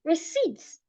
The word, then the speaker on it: receipt: Because if you, let's assume you're trying to say receipt and you're saying receipt, the P is silent. That's wrong. Receipts.